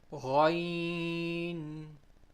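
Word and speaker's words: غ: Ghain. Ghain. When a Ain has a dot, it becomes a Ghain.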